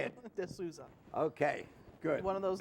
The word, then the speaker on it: D'Souza: mary D'Souza how do you say it D'Souza ok good one of those names that you